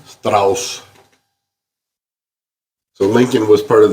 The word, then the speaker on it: Strauss: Strauss. S-T-R-A-U-S. I'm sorry. I was giving it the proper German Is that what it is? pronunciation. Pronunciation? Strauss.